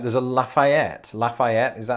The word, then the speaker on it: Lafayette: what did he say lafayette the there's no real major emphasis on that last syllable lafayette lafayette lafayette lafayette